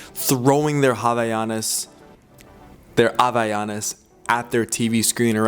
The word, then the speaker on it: Havaianas: Havaianas, but in Portuguese, if you were to pronounce Havaianas, you don't say Havaianas, you say Havaianas. Havaianas. So all the times you heard me say Havaianas, the correct pronunciation is Havaianas.